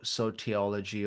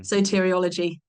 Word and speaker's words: soteriology: I can't pronounce so serology or or something soteriology soteriology there you go yeah so it creates